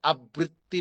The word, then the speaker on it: আবৃত্তি: কিন্তু ঋকার আসলে দ্বিত্য উচ্চারণ করা যায় না। তাহলে আবৃত্তি বলা যাবে না। বলতে হবে আ বৃত্তি আলাদা বলতে হবে